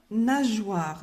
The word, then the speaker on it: nageoire: La nageoire. Donc, ici, on a un O. Donc, on va prononcer J. Donc, on doit mettre un E.